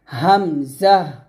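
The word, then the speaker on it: همزة: হইতে উচ্চারিত হয় যেমন হামজাহ হা এভাবে যখন আপনারা হামজাটা উচ্চারণ করবেন এখানে চাপ দিবেন না হামজা উচ্চারণ করার সময় চাপ দিবেন না স্বাভাবিকভাবে নরমাল করে উচ্চারণ করবেন হামজাহ হা এরকম ভাবে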